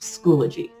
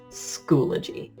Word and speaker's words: Schoology: But with the online training that they gave us, the people who own the program say that it's pronounced Schoology. Schoology.